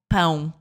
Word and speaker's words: pão: So in that case, it would be called pão. It's got this quality to it. It's not an a, it's an like an unk, right?